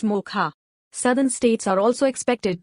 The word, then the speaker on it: Mocha: This weather system will be called Cyclonemocha, pronounced MOCHA.